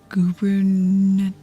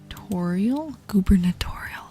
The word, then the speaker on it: gubernatorial: All right, up next is the gubernatorial. Gubberatorial. Okay. Am I pronouncing that right? Gernbertorial. Perfect. Okay.